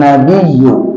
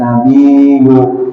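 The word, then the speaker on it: نَبِيُّ: sunah hukumnya Alaika ayyuhan nabiyu Nah ayyu itu ada tasdidnya nabiyu juga ada tasdidnya bila taktinggal tasjidnya k sah Juga misalnya baca Assalamualaika ayyuhan nabiu nabiu ya nabiyu nabiu k nabiu orang nabiu ditekan bya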